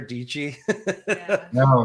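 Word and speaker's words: Dietschy: vlog just regular like sarah deechi rhymes with peachy here's one the fish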